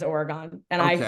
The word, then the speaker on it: Oregon: It's Oregon, but everyone says Oregon, and I Okay.